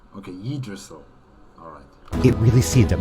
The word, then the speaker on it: Yggdrasil: Yggdrasil, not Yggdrasil. Yeah, that's my mistake. I pronounced it wrong. Okay, Yggdrasil.